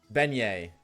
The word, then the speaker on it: beignet: Was it Bayuts? I'm somebody said how to say it and I already forget. They said like two minutes ago and shame on me for forgetting but I already forgot her. Beignet. Yeah, close enough.